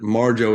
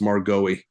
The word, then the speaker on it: Marjoe: explain to somebody that that Marjo is not pronounced margoti yeah you know you